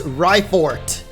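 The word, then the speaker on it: Raifort: as history yes Miss rifort what the heck does that mean Rye like ride on but no it's spelled Rye r-a-i like ryko maybe yo is that Professor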